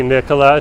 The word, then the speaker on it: Nicola: Whenever I see Nikola, just remember how to pronounce it. I always think of like Nikola Tesla.